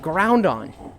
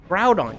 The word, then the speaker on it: Groudon: They're like Groundon. Groudon, you idiot. It's Ground. I was like, cuz they are like the ground Pokemon like crouton but with a G and a D.